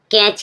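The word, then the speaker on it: catch: कैच कैच means पकड़ना। टी के बाद जब सी एच आए तो टी साइलेंट रहेगा।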